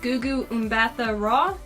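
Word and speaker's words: Gugu Mbatha-Raw: Minnie Driver, and I think her name is pronounced Gugu Mbatha Raw.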